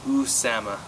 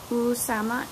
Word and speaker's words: Usama: about to say yeah the pronunciation it's usama usama and is it o or